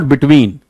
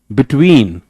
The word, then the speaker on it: between: बिटवीन, इट्स नॉट बिटवीन, between, between A and B.